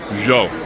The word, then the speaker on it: yo: rican uh or argentinian yo which is pronounced like a j so you consider saying yo you can say joe jose americano and that